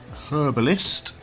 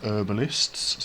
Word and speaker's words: herbalist: We would say in the UK herbalist with a H. And in American they pronounce some herbalists. So you would have an herbalist. Over here it would be a herbalist. Unless you're cocknney then you would you would drop the H anyway. Um so we want to set up a herbalist.